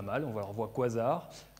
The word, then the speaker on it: quasar: On va leur voir quasar. Alors déjà, prononciation, est-ce qu'on dit quasar ou quasar? Ah, ça c'est la grande question. Alors beaucoup de monde dit quasar. Moi, je dis quasar.